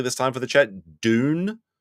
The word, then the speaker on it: Dune: Dune, not June, which is the correct way to say it.